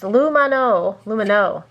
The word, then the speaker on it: Lumineux: This is the Luminu Whitening Mouthwash. This one, let's see, pronounced Lumino.